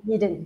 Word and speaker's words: Eden: Eden Cho, did I say it right? Eden. Just call him Eden. Eden, okay. From the Garden of Eden.